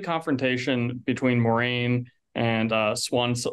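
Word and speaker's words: Siuan: Maureen and uh swans I I always say her name wrong because I read these books when I was a kid and I he won yeah thank you yes Swan I always call it like Swain I'm like that's not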